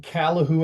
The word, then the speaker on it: Calahoo: When you were growing up in Calahoo, Alberta, is that how you say it?